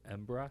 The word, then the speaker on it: Embarras: makes it really nice it's on the ocean embra spelled embarrass River but uh so it makes